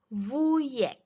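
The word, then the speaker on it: wujek: y oke yang kedua vuyek vuyek W dibaca V J dibaca y vuyek Oke kemudian yang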